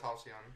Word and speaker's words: halcyon: But yeah, it's Halcyon.